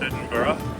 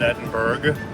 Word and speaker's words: Edinburgh: It's actually pronounced Edinburgh, not Edinburgh, and it's a little cool, but very, very pleasant.